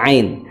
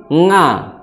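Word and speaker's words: عين: Ada yang membaca ain dengan nga, ya, ini lahjahnya orang-orang Jawa biasanya. Ain dibacanya jadi nga, ya, nga, nga. Nah, maka itu kurang tepat.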